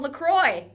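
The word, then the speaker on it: LaCroix: my friends were like don't you mean a lacroy and I was like haha I get it I live in the States now that's how people from America often pronounce French things and they were like no it's a company I think that's based in Michigan Minnesota and it is it's called lacroy yeah that's the actual name oops we screwed it up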